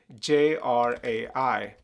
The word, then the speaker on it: Jrai: But we also spell it as J R A I. Jrai, when you say it really fast.